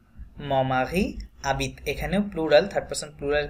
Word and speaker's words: habite: উচ্চারণ হয় mon mari habite mon mari habite এখানেও plural third person plural conjugation that's why ENT silent তাহলে habite HARBIT আমরা জানি যে ফ্রেঞ্চ ভাষায় হ এটা উচ্চারণ হয় না ওরা এইচটাকে মিউটেড থাকে